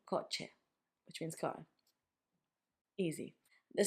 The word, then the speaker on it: coche: The sound is easy because you've got it in English. It's ch, which makes ch, like in coche, which means car.